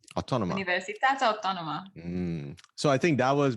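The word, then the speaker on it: Autònoma: you went to Barcelona, Universitat how do you pronounce that? Autónoma. Universitat Autónoma.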